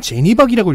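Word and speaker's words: Janne Pak: 제 상식으로는 잔느박입니다. 얀느. 그렇게도 가능하죠. 스칸디나비오 네. 스타일로 하면 안 돼? 한. 그러니까 ANN이니까요. 잔느박인데요. 본인은 제니박이라고 읽고 있습니다.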